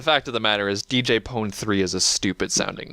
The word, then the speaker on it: DJ Pon-3: yeah but the fact of the matter is DJ pon3 is a stupid sounding it's funny but they